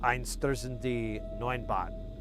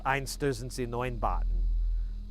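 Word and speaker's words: Einstürzende Neubauten: I probably messed up I've been trying to pronounce it more like it's supposed to be, because normally I just pronounce it with my American twang, and it's Einstürzende Neunbauten. But the meter is wrong. Like how you go through the word, like the emphasis and metering is off.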